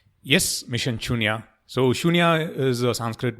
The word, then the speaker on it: Shunya: Did I pronounce that right? Yes, Mission Shunya.